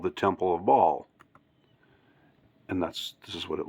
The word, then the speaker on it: Baal: 2016, Temple of Baal, I've heard it pronounced Baal or Baal, but I'm going to say Baal, just I'm going to stick with that pronunciation. Temple of Baal replica arrives in London just in time for ancient pagan festival.